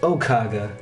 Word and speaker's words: Okvgv: It's spelled Okvgv, but pronounced Okaga. The V's are A's. The V's are upside down A's.